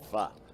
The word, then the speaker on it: pho: It's not poo, Sean. It's pho. I've learned how to pronounce it correctly.